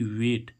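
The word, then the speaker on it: wait: ऐसे ही हम देखें इसमें डब्ल्यू ए आई टी, अब देखो यहाँ पर भी ए आई आ रहा है तो इस ए आई का उच्चारण क्या हो रहा है? ए, यानी कि वेट।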